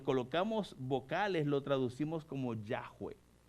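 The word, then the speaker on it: Yahweh: vocales lo traducimos como yahwe y algunas versiones de la Biblia Usan el nombre Jehová para hablar del nombre de Dios la traducción correcta No es Jehová es yahwe porque el nombre original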